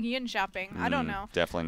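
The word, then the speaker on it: Jönköping: Yonshop or Yonshopping? It's yawn chopping. I think it's more like yin shopping.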